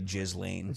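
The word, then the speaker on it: Ghislaine: You can't say her name right. It's got to be Jiz Lane.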